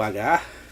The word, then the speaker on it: Hagar: A idéia do Hagar... Ou "Hágar", depende de como você vai pronunciar isso aqui, é um viking, ele pilha, ele destrói, ele mata.